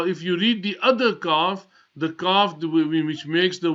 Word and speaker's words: Qaf: Now that Qaf is pronounced from the top of the throat.